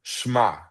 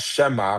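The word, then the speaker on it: שמע: the slide, sh ma, that's English characters for the Hebrew verb schma, not shema, but one they try to say it in one syllable, schma.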